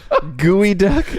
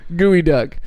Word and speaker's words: geoduck: Gooey duck. Yeah, Evergreen State's gooey duck. Kick him in you the gooey spell it ducks. Geo though. Yeah, I G-E-O, just- gooey duck.